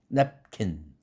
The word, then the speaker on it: napkin: 근데 많은 한국 사람들은 냅킨 좀 줘, 냅킨. 개방시키죠. 냅킨. 그렇게 되면 어떻게 됩니까? 음절이 하나 늘어났죠. 으라는 모음을 넣으면서 개방시키지 않습니까? 그러면은 냅킨. 3음절짜리에 잘못된 발음이 나오는 거죠. napkin. 두 음절로 할 것을.